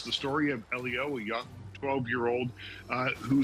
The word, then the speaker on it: Elio: And am I pronouncing it right? Is it Elio? Elio is absolutely correct.